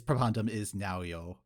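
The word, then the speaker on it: Pabandom iš naujo: Well, I learned that it is Pabandom is now, yo. They actually said it on the show this time. So I have known for a solid year that I've been mispronouncing that, and I just leaned into it.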